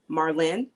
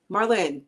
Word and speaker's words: Marlyne: We have Marlene. I keep wanting to say Marlene because I have... Because the E is silent.